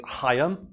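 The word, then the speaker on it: Haim: to and the aforementioned heim saban and i know that his name is hayam but i i can't do that like guttural sound that is necessary to pronounce his name correctly and i think even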